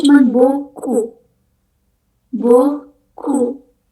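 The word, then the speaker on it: beaucoup: language fik dia yang terakhir itu tulisannya tapi bacanya cuman boku bok ku P terakhir.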